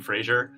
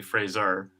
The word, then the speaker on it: Fraser: apologize that it's okay well people i know who have a kind of american-ish accent always pronounced my name frasier even my like current